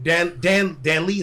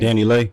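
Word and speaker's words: DaniLeigh: Now I know Dan Lee, is that how you say her name? Danny Lay.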